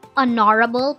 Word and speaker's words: honorable: An honorable person. The word honorable begins with the vowel sound O because the H is silent.